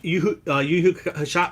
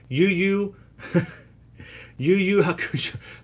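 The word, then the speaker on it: Yu Yu Hakusho: Josephina, it's not that I don't like Yu Hakusho. Oh my god, I just said it wrong. Yu Hakusho.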